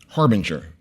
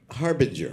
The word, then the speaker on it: harbanger: this s yeah and you pronounce it Harbinger Harbinger yeah the same way spelled like har Banger yes that's uh so